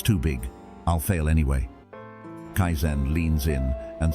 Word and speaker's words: Kaizen: Kaizen. 2 simple syllables. Kai, change. Zen, better.